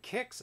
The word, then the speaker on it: KIX: But it's pronounced Kicks.